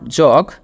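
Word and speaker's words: jug: pouring water from the জাগ টু মাগ এখানে যে উচ্চারণটা হবে এটা নট জগ এটার উচ্চারণটা হবে জাগ এরকম টাইপের বর্গের জ আকার গ জাগ এবং মগ যেটা আমরা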